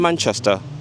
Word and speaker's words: Manchester: This vowel, man, is not easy to say for speakers of many languages, so it's quite often mapped to a more open vowel, Manchester, from Manchester to Manchester.